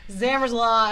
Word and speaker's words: Zamrzla: for having me yeah thanks for being able to say my last name right zammer's law everybody you heard it here first the only time it's ever been pronounced correctly okay okay there's been